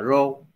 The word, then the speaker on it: rho: là cái rho đó, cái này mình đọc là rho, rho XY ha, thì gọi là hệ số tương quan.